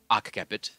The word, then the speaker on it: occiput: So, kind of a conundrum, but if I want to be closer to classical Latin, it would be occiput.